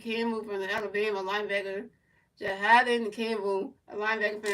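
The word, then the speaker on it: Jihaad: Jiad and Campbell.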